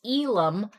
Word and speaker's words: Elam: for everyone it's Elam don't worry it doesn't get as mispronounced as my first name Elam okay we'll